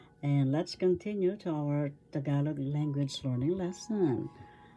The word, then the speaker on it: Tagalog: Tagalog language learning lesson tagalog balila is our lesson today. Tagalog that's tagalog that's the correct pronunciation first syllable ta second syllable ga third syllable log tagalog the accent is in the second syllable tagalog balarila baralarila in